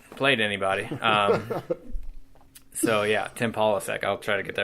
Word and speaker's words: Polasek: they spell out that it's pronounced Polasek, Pawl. So I realized that was spelled out just for you and I, the SEC grads. We should be able to say Paul.